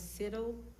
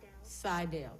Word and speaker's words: Seidel: um next we have i think it's siddill i may be mispronouncing your name forgive me you said my first name correctly yes ma'am how do you pronounce your last name seidel thank you we need